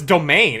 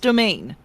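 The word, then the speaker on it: demesne: Oh, it's domain. It's French. Wait, it Oh, okay. It's just pronounced domain.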